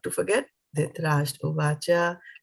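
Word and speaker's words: धृतराष्ट्र: So Dhrita Rash. I forgot the tra. Dhritarashtra Uvacha Dharma Kshetre Kurukshetre Samaveta Yut Savaha Mamakaha Pandavash Chaiva Kim Akurvat Sanjaya.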